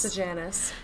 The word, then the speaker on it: Sejanus: Sejanus.